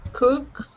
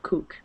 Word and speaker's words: cook: And it's Okay. cook. Not kook.